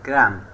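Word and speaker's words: crumb: এখানে এম এর পরে বি লেটার দি সাইলেন্ট থাকবে। সি আর ইউ এম বি ক্রাম মানে টুকরো টুকরো করা।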